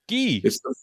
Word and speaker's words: Guy: I'm just going to, not to jump on this, but my mother liked it pronounced Guy. It's like it's just a thing. Guy. It's the French way, man.